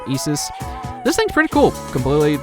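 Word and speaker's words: Isis: a whole new persona which is isus and that's actually how you're supposed to pronounce it I'm pretty sure cuz it's the mythological isus this thing's pretty cool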